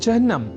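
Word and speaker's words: चिह्न: अर्थात चिन्ह में अर्ध हकार के बाद न इस अक्षर का संयोग होता है।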